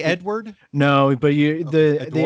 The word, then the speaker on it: Edouard: And what is kind of funny, before I wrap up, you pronounce Edouard the same way that the Google team sheet is telling me it is spelt.